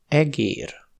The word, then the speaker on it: egér: kár (dommage) ; Eger (le nom d’une ville), egér (souris).